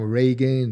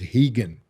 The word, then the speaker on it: Rigan: They they come Reagan, they come different accent, different pronunciation. But uh it's normal because R in Brazil is the same sound like H. Yeah. Um, the right pronunciation is heaggan.